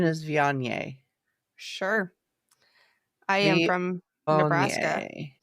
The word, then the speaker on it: Viognier: Says Yeah, the pronunciation is Viognier.